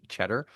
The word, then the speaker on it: Tschetter: Back here on DM Radio, a fascinating conversation with Eric Cheddar of that's Ts Ctrer, pronounced Cheddar and Mark Madson of Third Nature.